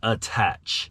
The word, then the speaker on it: A-Tach: It's actually a play on words. It's actually pronounced attach mount.